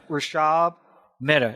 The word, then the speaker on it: Rushabh Mehta: And that's Rushabh Mehta. Is that correct? That is correct, Brien.